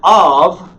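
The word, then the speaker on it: אב: Av, the first word, the Aleph is silent. It's got a vowel. You see that little plus under there, that little T underneath it? Long A. Okay? That is a comet. It's an ah sound. And Av is how you pronounce that word, because you've got the ah sound and the consonant, va, bait, without the dogish, Av. Okay?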